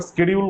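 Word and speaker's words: schedule: last Monday new স্কেডিউল এটাকে অনেকে সিডিউল বলে কিন্তু উচ্চারণটা স্কেডিউল করলে ভালো স্কেডিউল ফর ওয়ার্কারস গো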